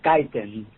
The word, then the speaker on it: Caton: And Juan Carlos Caton, I believe that's the way you pronounce the last name. Is that right? Yes, it is Caton.